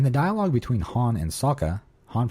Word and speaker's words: Sokka: In the dialogue between Han and Sokka, Han pronounces Sokka's name incorrectly by elongating the O, which is the Asian pronunciation and how it was pronounced in the film, The Last Airbender.